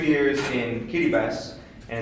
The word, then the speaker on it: Kiribati: As Linda said, I lived for 2 years in Kiribati, and it's actually pronounced Kiribati. The T is pronounced like an S.